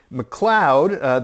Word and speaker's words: McLeod: So also a replica of him that I've also found on Etsy by McLeod. That's M-C-L-E-O-D. Look, I pronounced it McLeod.